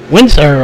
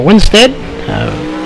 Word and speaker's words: Winstead: go along here with Brandon Windsor Oh Winstead in here clarifying on pronunciation of that name as he is new